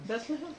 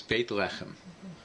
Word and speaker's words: Beit Lechem: Bethlehem? Right. But if you pronounce it properly, it's Beit Lechem. Right? That's what David Beit Lechem is the house of bread.